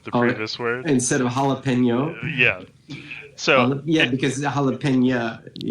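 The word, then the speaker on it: jalapeño: Jalapena. Yeah. I assume that was an artistic decision to rhyme with the previous word instead of jalapeno.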